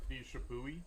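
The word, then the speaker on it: Chappuis: He's got Distinguished Service Crosses for both McCullough and this guy, I say Chipwee. I know there's about 15 different pronunciations for the name. John? Chipwee. Chipwee, thank you.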